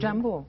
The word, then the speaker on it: jambo: Jambo. Jambo. There you go. I hope for a Swahili teacher will pronounce it wrong.